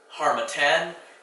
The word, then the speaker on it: Harmattan: Harmattan is a dry, dust-laden wind that has two T's. Looks kind of like Manhattan, but it's not pronounced like that.